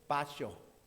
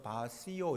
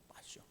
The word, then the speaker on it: baciò: 그러면서 뛰어가가지고 글리시게토 알콜레 엘로 바쇼. 난 이걸 발음을 잘 몰라가지고 바시오 이렇게 읽었는데 딱 돌려보니까 아니에요. 요새는 너무 좋은 세상이에요. 바쇼.